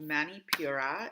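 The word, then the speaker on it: Manipura: let's get started so solar plexus chakra so Manny Pura is uh what that means in Sanskrit uh that is the pronunciation for solar ple solar plexus chakra and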